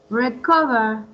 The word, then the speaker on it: recover: Recover. Right. Remember it's cover and recover. Ka.